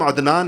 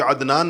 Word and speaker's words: عدنان: ہم تلفظ نہیں کرتے۔ مثلا میرا نام عدنان ہے، لیکن آپ میں سے کوئی بھی مجھے عدنان نہیں کہے گا، عدنان کہیں گے، حمزہ سے کہتے ہیں سارے کے سارے لوگ، تو عدنان تو حمزہ ہے یہ۔